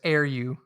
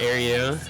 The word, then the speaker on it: Iryu: I'm being told by Asia that it's Iryu. Yeah, I tried to say that without just outwardly saying Iryu. I've been pronouncing the E the whole time.